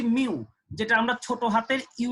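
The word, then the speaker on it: μ: তো এখানে দেখো আমাদের সূত্রটা হচ্ছে ঘর্ষণ বল, যার সূত্র হচ্ছে মিউ ডাব্লিউ, উচ্চারণ হচ্ছে মিউ, যেটা আমরা ছোট হাতের ইউ এর মতো লিখবো কিন্তু সামনে একটু লেজের মতো একটু বাড়ায় দেওয়ার চেষ্টা করব, মিউ।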